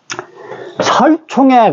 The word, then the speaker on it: 契: 그 다음에 계약할 개자로도 읽어집니다만 이 글자는 글로도 우리말로는 읽어지고 또 하나의 발음이 또 있어요. 설이라고도 읽어져요. 설. 우리가 신라시대 때 설총이라고 하는 그 위대한 그 사람 그 얘기를 배웠죠? 예? 설총의 그 성씨가 바로 이 글설자예요.